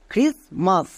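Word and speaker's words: Christmas: আর আই এস ক্রিস এখানে টি কিন্তু silent এবার কেন সাইলেন্ট এর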